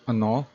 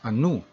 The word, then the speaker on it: ano: So Cebuano pronounce ano or what as anu, and babae or woman as babai.